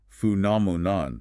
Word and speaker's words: phenomenon: Being Greek in origin, the phi makes an F sound. The challenge is the length and the stress. Phenomenon, stressing the second syllable.